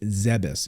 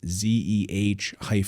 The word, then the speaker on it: Zebes: Yes, it's officially pronounced Zebes. If you spell it phonetically, we'll even put it up here on the screen. It's ZEH-BESS.